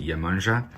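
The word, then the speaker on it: Iemanjá: lot of people pronounce yamaya in portuguese you pronounce it yamanja i kinda grew up with her energy a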